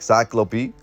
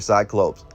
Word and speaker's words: cyclops: or quote circular eyes pronounce something like cyclope or a cyclops with a long o now here's where it